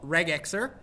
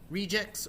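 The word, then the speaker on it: regex: regular expressions is called reg XAR so reg X or rejects or however you want to pronounce it I just will pronounce it reg X our eg e^x that's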